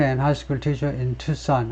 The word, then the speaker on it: Tucson: 레이먼 아이슬러가 말인데, 아이슬러스, 레이먼 이슬러스, 라틴 계통이면 이슬러스라고 발음할 텐데, 58, a fiction writer and high school teacher in Tucson, 아리조나, 투싼이라고 발음하죠.